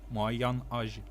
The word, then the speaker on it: moyen âge: âge, moyen âge. And when you know you need to connect the words, it's spelled moyenne. Moyen, Okay, good. Âge. Moyen âge. moyen âge. Yeah, that's It's fine. almost like mayonnaise.